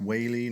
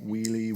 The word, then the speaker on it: Whealy: For reasons I cannot explain, my last name is pronounced Whealy, not Wheely, Wally, Whirly, or any other variation you could think of.